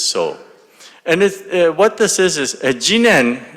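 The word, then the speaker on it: 自然: And what this is Jinen, the normal pronunciation in Japan is shizen.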